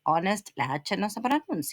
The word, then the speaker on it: honest: Honest don't pronounce the H.